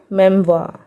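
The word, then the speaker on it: memoir: फिर एम ई एम ओ आई आर, यहाँ पे भी आर साइलेंट होगा तो क्या पढ़ेंगे इसको, मेमवा, मेमवा। ठीक है, अब नेक्स्ट वाउल पेयर की ओर चलते हैं।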